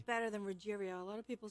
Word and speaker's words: Ruggiero: you were coming on, I think I said it with a hard G, like Ruggiero or something. Well, that's not a hard G. That sounds better than Ruggiero.